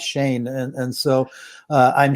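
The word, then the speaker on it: Schoen: as joe shane said people are pronouncing it sheen and shone and everybody was wrong it's shane and and so uh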